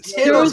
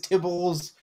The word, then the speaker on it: Tiddles: It was Tiddles because I kept mispronouncing it as Tibbles or Yeah, that's right.